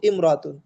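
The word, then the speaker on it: امرأة: এই যে মূল উচ্চারণ ছিল কিন্তু রায়হানাতু ইমরাতুন। আমরা একটু আগে জেনেছি যে ইমরাতুন শব্দের আগে অন্য শব্দ থাকলে আলিফটা লেখায় আসবে, উচ্চারণে আসবে না। এজন্য রাইহানাতু ইমরাতুন এভাবে ভেঙে না বলে মিলিয়ে পড়বো।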